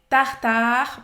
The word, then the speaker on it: tartare: Tartare, presta atenção, termina a pronúncia de novo no R.